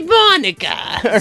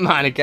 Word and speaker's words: Monika: jersey i'm thinking it's gonna be monika not monica i mean uh whatever